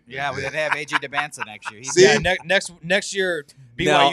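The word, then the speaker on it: Dybantsa: How do you pronounce it? AJ DeBanza. DeBanza.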